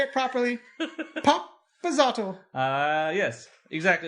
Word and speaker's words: Papazotl: Popazotl. Papazotl. No, you got to put more of an accent on it.